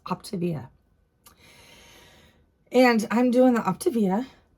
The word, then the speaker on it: Optavia: I have to apologize because I always say it wrong. Optavia. That's what it is. Optavia.